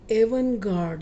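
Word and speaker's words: avant-garde: ले जा रही है द एवन गर्ड ये मैंने इसकी प्रोनंसिएशन हिंदी में भी लिख दी है इसमें टी साइलेंट है द एवन गर्ड का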